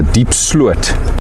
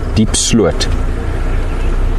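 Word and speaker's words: Diepsloot: So just to clarify what the pack members are busy discussing, the riverbed that we've gone through is the Deep Slut River, spelled D-I-E-P-S-L-O-O-T, Deep Slut.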